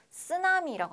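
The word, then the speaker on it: 津波: 쓰나미라고 하잖아요. 쓰나미. 네, 쓰나미가 아니라 뭐라고요? 쓰나미, 쓰나미라고 합니다. 네, 여러분 발음하고 계시죠? 쓰나미, 쓰나미 아니에요. 네, 자, 일본어인데 그렇죠? 이상하게 우리나라에 들어오면 쌍시옷으로 발음이 난다.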